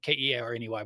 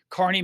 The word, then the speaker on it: Kearney: I know it doesn't look like it's Kearney, Kearney, but that's how I pronounce it. Kearney, Missouri.